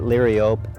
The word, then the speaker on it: Liriope: This is Liriope big blue. And so it's a bigger form of Liriope, or some people pronounce it Liriope.